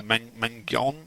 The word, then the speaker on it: Mangione: Mangione, is that how you say his name?